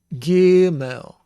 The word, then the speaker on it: gimel: in it so it is a plosive word so it's guimo and if it is not plosive it would say you don't put your tongue all the way to the roof of your mouth and you try to say the g sound just barely touching the roof of your mouth with your tongue anyway this is ga and it's gimmel gimmel and the segal has